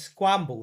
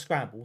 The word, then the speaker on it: Squamble: This is Squamble, not Scramble, Squamble. That's how you say it.